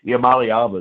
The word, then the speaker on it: Iamaleava: Iamaleava is how you say it, but I screwed that up 2 or 3 times.